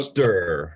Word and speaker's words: Steur: Uh, Steur. Let's call it that way in the English way.